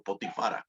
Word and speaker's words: Potifar: hebreo Spotify Por cierto potifar en español potifar en hebreo es decir como si fuera femenino pero así es en la forma de pronunciar el nombre de potifar en hebreo potifará potifar tiene su esposa